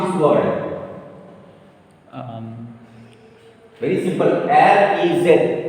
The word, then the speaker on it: riz: R-E-Z. R-E-Z. Re. Re. Because this is silent.